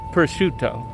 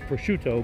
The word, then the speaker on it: prosciutto: I would say most commonly, probably pronounced wrong, it's prosciutto.